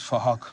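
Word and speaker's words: Phuc: His name is Fahok. We're spelt with a PH, so it sounds like Fahok.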